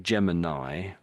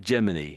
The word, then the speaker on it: Gemini: So I think we say Nye, Gemini, but the Americans can say, how do they say it? Gemini?